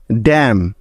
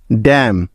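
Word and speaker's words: damn: বা উজ্জ্ব থাকার নিয়ম এম এর পরে এন থাকলে ওই এন টা সাইলেন্ট বা উজ্জ্ব হয়ে যায় অর্থাৎ তার কোন সাউন্ড হবে না যেমন ড্যাম ই এম এন ড্যাম column C ও এল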